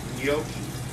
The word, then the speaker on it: gnocchi: Gnocchi. Gnocchi. The G and the N. In Italian, the G and the N make a sound gnocchi.